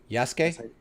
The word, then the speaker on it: Yasuke: because because of this y-a-s-u-k-e is yes you know they don't you don't pronounce the u so it is y-a-s-u-k-e yes oh okay all right